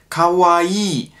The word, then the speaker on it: kawaii: natürlich ein khk und dann kommt das akw und jetzt das i ist ein langes ii kavai ja also sozusagen man hat das lang es ist kein kurzes ii und das hört man finde ich oft in deutschland dass ankara oder just cavalli sondern das ist also ganz wichtig dass sie wird lang ausgesprochen cavalli wenn ihr das so